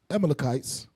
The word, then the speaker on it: Amalekites: Amalekites.